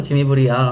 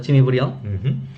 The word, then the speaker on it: Jimmy Briand: 한국에선 지미브리앙 하는데 보통 여기서는 지미브리엉이라고 하죠. 지미브리엉.